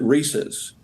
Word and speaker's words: Reese's: Is it Reese's or Reese's? Well, the family itself, the members of the Reese family and Hershey, we've always pronounced it Reese's.